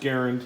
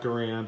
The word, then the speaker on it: Garand: M Ron Garan m1 garand and it is pronounced garand not garand I'll say it both ways probably but you'll